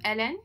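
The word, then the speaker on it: Hélène: it's pronounced ellen without the h because my first language is french but it's spelled h-e-l-e-n-e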